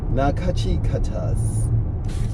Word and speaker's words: Nachiketas: That's why I'm always looking at this paper, because it's pronounced Nachiketas.